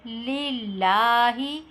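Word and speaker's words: لِلَّهِ: In the word Lillahi, read the letter Lam as read light.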